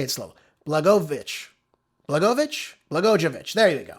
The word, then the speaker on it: Blagojevich: Ex-governor Rod Blag- I always say his name wrong. I got to say it slow. Blagojevich.